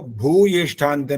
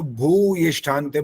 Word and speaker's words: भूयिष्ठान्ते: एक तो भू ये स्थानते में छोटा ऊ बोला, बड़े ऊ की मात्रा है तो भू ये स्थानते बोलना होता है जी।